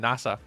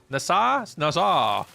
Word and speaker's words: Nassau: You were figuring out how to pronounce the city from the Pirates of the Caribbean, saying NASA. Nassau.